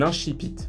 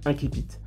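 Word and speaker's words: incipit: Qu'est-ce qu'un inchpite ? Oui oui, je le prononce bien et en latin, ça se dit même inquipite.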